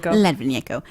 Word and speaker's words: Litvinenko: Well, how do you pronounce that? Litvinenko.